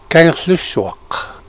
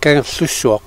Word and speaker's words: Kangerlussuaq: What is the correct pronunciation of the town? It's difficult in English. Kangerlussuaq. Kangerlussuaq.